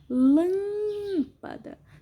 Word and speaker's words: lâmpada: Lâmpada. Sílaba mais forte é o Lã, som fechado, acento circunflexo.